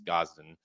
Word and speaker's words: Gosden: It's not Aiden, it's Gosden.